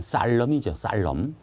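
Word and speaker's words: solemn: 그 다음에 2번 발음 조심해. 쌀럼이죠, 쌀럼.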